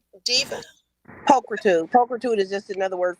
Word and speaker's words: pulchritude: I believe it is pronounced Pulatrude Diva. Pulchritude.